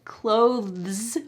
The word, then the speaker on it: clothes: good news right because clothes with the th is really hard to say so in this instance you have an easy pronunciation that is actually accurate it's how we pronounce it so back to